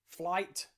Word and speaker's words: flight: gh have caught another silent gh the knight another silent gh flight another silent gh and